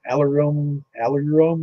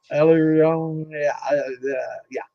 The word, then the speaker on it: aleurone: then you got what's called an aleurome layer. I'm probably butchering the pronunciation of that, but I'm not going to help you out, bro. Yeah, I mean, I've never had somebody, a biologist, explain it to me and pronounce it. Good job, Jeff. Aleurone, yeah, that's it. No, whatever you say. Aleurone, aleurone layer.